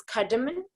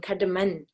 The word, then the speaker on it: cardamom: soup male in tibetan that is cardamom I've been always saying cardaman I think it's my mistake with my pronunciation so there is number